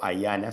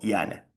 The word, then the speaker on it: IANA: latina a n a iana o aana si no lo quiere pronunciar en inglés. En español nosotros decimos yana digamos y latina ana.